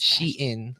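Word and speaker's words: Shein: you know the real fast quote-unquote oh it's she in apparently that's how you pronounce it really yeah she is want please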